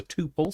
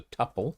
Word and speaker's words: tuple: um what's I call what I pronounce as a tuple some people pronounce as a tuple I'm not sure which